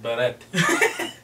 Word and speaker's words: beret: that was so weird you're in America we pronounce it baret that's so weird the